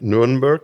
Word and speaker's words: Nuremberg: 1871, when the Bavarian Higher Regional Court of Nuremberg, did I pronounce that right? Nuremberg, yeah, up there, Franconia.